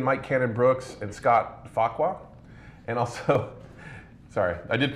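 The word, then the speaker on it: Farquhar: founders of atlassian mike cannon brooks and scott faqua and also sorry i did pronounce that right right yes you did and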